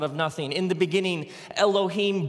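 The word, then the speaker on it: אֱלֹהִים: it would look something like this and it's pronounced Elohim let me hear you say Elohim in the beginning Elohim created the heavens and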